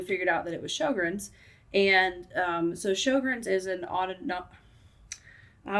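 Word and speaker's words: Sjögren's: That's how you say it, Sjogren's.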